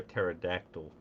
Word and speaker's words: pterodactyl: Um, why can't you hear a pterodactyl going to the bathroom? I have no idea. Because the P is silent.